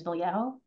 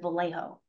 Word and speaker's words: Vallejo: my last name is Vallejo. I pronounce it specifically the way that we would pronounce it in the Philippines. My brother pronounces it Vallejo, right? He actually Americanized his name because people could not